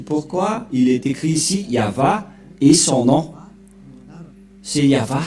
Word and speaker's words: Yahvah: dire non c'est pourquoi il est écrit ici yava et son nom c'est Yav son nom et